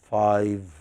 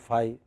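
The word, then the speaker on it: five: Lots of people, particularly in South India, do not pronounce the last sound of the number 5. They say 25, 35. How many do you want? 5.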